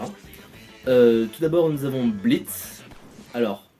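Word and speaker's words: Blitzø: tout d'abord nous avons Blitz alors ça s'écrit blitzo mais ça se prononce Blitz le ha et muet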